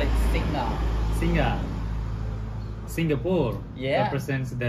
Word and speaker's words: Singha: Singa, yeah, Singha. But the G, we pronounce it like Singa.